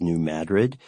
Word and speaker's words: New Madrid: The only reason that I know, the only reason I pronounce that town in Missouri as New Madrid From the video?